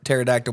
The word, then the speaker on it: pterodactyl: because like like pterodactyls it's like PT is how you spell it you start it starts with a P I swear I'm not